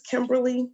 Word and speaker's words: Kemberly: My name is Kemberly, but I spell it uniquely.